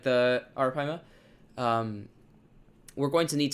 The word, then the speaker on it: Arapaima: really It's Arapaima, not Arampaya.